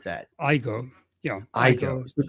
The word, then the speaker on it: AIGO.ai: How do you pronounce that? I go.